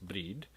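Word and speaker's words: brȳd: course is a bride in earlier english spelled with a y and pronounced breed so breed for bride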